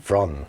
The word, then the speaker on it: Fron: But it's like they said it was like a V sound. Fron.